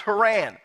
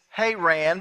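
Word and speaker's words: Haran: meanwhile Jacob left bare Sheba and traveled towards her Anne now the correct pronunciation is hay ran but we're from Cherokee County none of us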